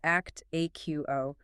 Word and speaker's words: Actiqo: That is spelled ACC Tiqo pronounced act aqo.